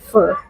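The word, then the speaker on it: phở: It's so fur ball, but it is spelled as ph. Yeah. But pronounced as fur.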